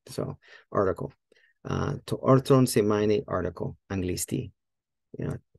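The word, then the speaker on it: ἄρθρον: I think throne, arthron, I don't think the accent is on the first syllable. Let's check that. Arthron. So, ar oh, what? Oh, I forgot about the arthron. Sorry, forgot about the row right after it. Yeah, there you go. First syllable. There you go.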